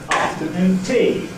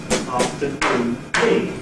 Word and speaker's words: afternoon tea: English phrase like that I will not make the last syllable known stronger than the other syllables. I will make the first syllable after uh stronger and say afternoon te afternoon t and not afternoon te.